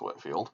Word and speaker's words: Whitefield: bit more detail George Whitfield I know it looks like Whitefield but is pronounced Whitfield he's an Anglican cleric